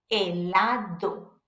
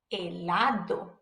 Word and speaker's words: helado: The H is silent, so pretend it's not even there. A, E, I, O, U, helado, helado, which means ice cream.